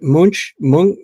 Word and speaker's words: Munch: on a class uh I don't think it's pronounced monk it's munch I mean it's German right so well any rate